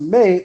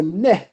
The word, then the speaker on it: me: In Sumerian mythology, a May, conventionally pronounced May or Neh, or Parsu in the